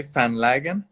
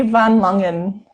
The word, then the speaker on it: Van Langen: So is it the correct pronunciation to say Van Lagen? But it'd be Van Langen.